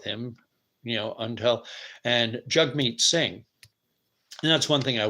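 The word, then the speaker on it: Jagmeet: be stuck with him you know until and jug meat sing that's one thing I wish they would do Peterson and paev both in their interview in their talk refer to jug meat sing as Jag meat and the man's name is pronounced jug meat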